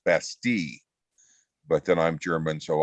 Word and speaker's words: Bastille: to that although my daughter tells me it's pronounced basti but then i'm german